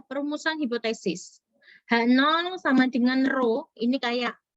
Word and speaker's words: rho: H0 sama dengan rho, ini kayak P, seperti huruf P tapi miring ya, bacanya rho.